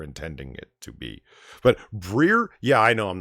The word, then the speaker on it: Brer: says it's pronounced a briar not a prayer well I can't do the southern accent to get from brother properly and yeah it's like briar as in briar patch but the briar patch